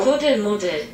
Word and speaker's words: Kuddelmuddel: chaotic, muddled up situation, and this word is kuddelmuddel. That's how I say it. I don't know if I pronounced that right. This is the German pronunciation from Google. Kuddelmuddel.